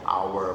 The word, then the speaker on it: hour: hour untuk jam ya one hour an hour hour itu dibacanya hour Berarti dibacanya secara huruf vokal ya.